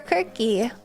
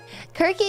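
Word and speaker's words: Circe: Is it media or kirky? Fools. Fools could be it. Any could be either. Kirky, you're killing me. That's how you say C I R C E. Kirky.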